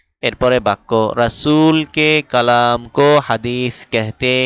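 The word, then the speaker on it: کہتے: তাসির অর্থ প্রভাব এরপরে বাক্য রাসূলকে কালামক হাদিস কেহতে হে কেহতে কাহতে হে না আবার কি হেও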